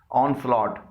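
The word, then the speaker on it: onslaught: बॉट, यहां पर भी जी एच से पहले यू आया है और जी एच साइलेंट है।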